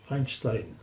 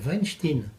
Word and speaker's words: Weinstein: le producteur de Hollywood alors j'ai apprécié votre prononciation Weinstein il y a une chose qui m'a prodigieusement amusé quand on a commencer à parler de l'affaire c'est que nombre de commentateurs faisaient la faute disait Weinstein ah oui ce qui faisait ce qui dénonçait